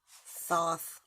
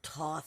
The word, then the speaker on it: Thoth: Well, the first one to speak is Thoth, or Toth, however you pronounce it. And I say it that way because different people pronounce things in different ways.